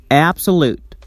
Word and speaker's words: absolute: tensed and pronounced louder and longer for example absolute the stresses on the first syllable app it's tensed and pronounced louder AB